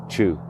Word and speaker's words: Chu: And Sunday Chu is actually how you pronounce that.